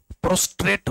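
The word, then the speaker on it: prostrate: जो शंका था, मैंने बोला था यहां पर आर होना चाहिए, क्योंकि प्रोस्टेट तो ग्लैंड होता है ना मेल में, इसलिए इसमें आर, इसके स्पेलिंग में सुधार कीजिए। प्रोस्ट्रेट होता है।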